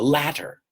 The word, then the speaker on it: latter: is another altima nor the latter sounds like later but it has two T's the latter write a